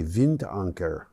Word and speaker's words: Wind: Iber Eberola has begun offshore construction of the 315 megawatt wind anchor offshore wind farm actually that's probably vint uh that's how you would pronounce it in German in the German Baltic